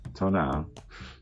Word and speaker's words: tonal: I knew that the Tonal, pronounced Tonal, was thought to be a kind of guardian